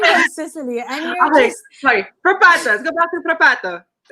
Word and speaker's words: Frappato: I had to check how to pronounce it, but it's called Frappato. I think you have to say that really, really bad Italian accent.